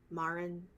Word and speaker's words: Marin: Oh gosh, like, I feel like Mifa and how do you pronounce it again? Marin.